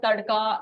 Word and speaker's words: tadka: Is this called Tadka. tadka? Yes. So this is Will you describe what that is? yeah. Tadka is basically for Indians, it's the life of any dish. So dal tadka, you would have heard of that.